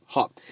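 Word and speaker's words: Höfn: on our way to hop hop hop it doesn't spell like that but it apparently it pronounces hop but there's a massive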